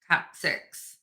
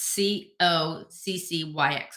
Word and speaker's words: coccyx: located at the tailbone or the I can't pronounce this the coccyx it's c o c c y x coccyx these eight fetal cells are created at